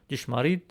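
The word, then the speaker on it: ճշմարիտ: Where instead of a D in Western Armenian, we used an unaspirated T in Eastern Armenian. So, let's review. The word for true in Western Armenian, it's chshmarit.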